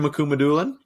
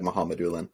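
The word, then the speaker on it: Mukhamadullin: kind of close Shakir makumadulin yeah Shakira Muhammad I think it starts more like muhammadullan there's no the K is silent yeah okay um they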